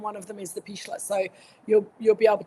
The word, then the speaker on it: Pichler: So those two letters and then Pichler is p i c h l e r Pichler. No, there's no s. It's just the German pronunciation.